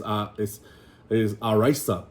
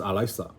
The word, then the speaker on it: alaisa: Or even rice, right? Is araisa. That's how you spell it, araisa. But it's alaisa, right?